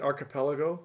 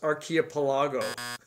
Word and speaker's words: archipelago: in the alexander archipelago is that how you pronounce it archipelago yes sir i used to think it was archaeopalago yeah yeah dave which